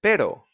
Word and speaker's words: pero: And also when it's a double R, which is very easy to spot because it's a double R. Like perro. Perro. Be careful, because with just one R is pero, softer, pero, which means but.